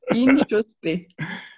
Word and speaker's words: Inchauspé: Comment on prononce ton nom de famille? Très bonne question. Inchospé.